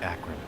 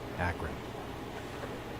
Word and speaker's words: Akron: So I guess it is pronounced Akron. I was wrong. Not Akron, Akron.